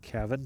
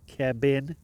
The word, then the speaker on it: Kevin: By the way, it's pronounced Kevin, not Kevin. Okay? I do know the whole thing about Japanese people pronouncing V like B.